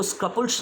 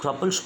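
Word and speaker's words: scruples: और ये क्रपल्स इस वजह से है क्योंकि इसमें एस साइलेंट रहता है, इसको स्क्रपल्स नहीं बोलेंगे, इसको क्रपल्स बोलेंगे।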